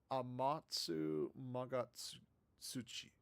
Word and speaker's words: Amatsu Magatsuchi: It is Amatsu Magatsuchi. Yeah, I was right.